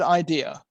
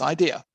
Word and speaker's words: idea: In English, it's pronounced idea. And the French pronounce it ID because they can't pronounce it correctly.